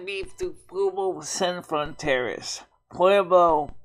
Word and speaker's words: Pueblo: Pueblo, actually it's pronounced Pueblo. I keep pronouncing my words wrong.